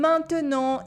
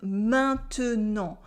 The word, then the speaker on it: maintenant: These 3 letters, A, I, N, sound like the nasal un if they're placed at the end of a word or just before a consonant, like the T in maintenant or the Q in convaincant. But of course, it's French,